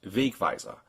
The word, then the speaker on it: Wegweiser: Here, for instance, we have the German word for signpost, Wegweiser. The first syllable is accented, but the second one also has a mark.